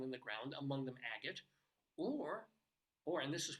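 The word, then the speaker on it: Agate: like the letter A so maybe back in the day they pronounced it a gate Colorado or a gate Colorado because it had a gate honestly I'm not making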